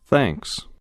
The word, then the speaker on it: thanks: دقت کنید که TH را باید نوک زبانی تلفظ کنید. نوک زبانتان را به پشت دندانهای بالا بزنید و مانند گوینده تکرار کنید. Thanks.